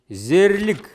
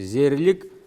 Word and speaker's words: Зерлик: Зерлик. Зерлик. Обратите внимание на произношение. Л мягко произносится. Зерлик.